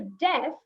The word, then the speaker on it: deaf: But when it came to deaf, it is D-E-A-F, but the A is silent.